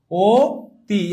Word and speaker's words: অতি: কিন্তু যখন অটা ও হয়ে যায় মনে কর আমি বললাম কি? অতি। তখন আমার কি উচ্চারণের ক্ষেত্রে ও তি এইভাবে কি আমি উচ্চারণ করি না তাহলে অ যখন